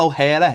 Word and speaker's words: O'Hara: character is it big well O'Hara is how you pronounce it hehehe you got a